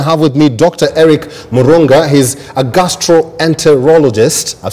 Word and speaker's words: Murunga: Eric Murunga.